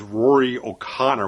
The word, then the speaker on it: Rory O'Connor: of a newcomer here with rory o'connor which i believe is the correct pronunciation he portrays the